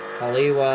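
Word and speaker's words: Hale'iwa: Haliwa, I said right.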